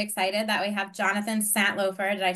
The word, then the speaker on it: Santlofer: This morning, I'm really excited that we have Jonathan Santlofer.